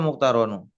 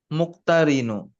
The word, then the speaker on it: المقترن: Kenapa muktarono? Muktarinu. Kasrah roknya ya.